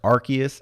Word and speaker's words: Arceus: though so let's let's address that does pokemon arceus interest you did you know it's pronounced arceus they were saying it on commercials on hulu